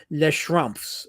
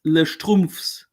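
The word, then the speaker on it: Les Schtroumpfs: Les Schrumpfs. Is it Les Schrumpfs? There's meaning behind it. It's Les Strumpfs.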